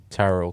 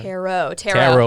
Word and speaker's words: tarot: The second T is silent. Tarot card? Tarot cards. Yes. Let's go. I almost wanted to say gyro, but it doesn't. Yeah, not quite that exotic. Tarot card.